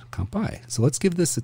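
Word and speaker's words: 乾杯: in Japan compai compai it literally means empty cup but we do not have to empty our cups not right away at least we can be sake sippers um but that is how you say cheers comp by so let's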